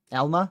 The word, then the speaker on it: Elma: Elma looks like how you pronounce it.